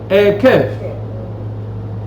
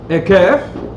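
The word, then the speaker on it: עקב: La misma palabra, se pronuncia distinto. La misma palabra, Akef. ¿Cómo se llama nuestra parashá? Ekef.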